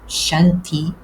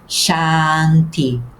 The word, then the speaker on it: shanti: Este tracinho por cima do A significa que o som é longo. Por isso, ao contrário do que seria a nossa tendência natural, não devemos pronunciar chanti, mas sim chanti.